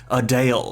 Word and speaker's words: Adele: feels like her name also apparently the correct pronunciation is adale after almost choosing wild as her stage surname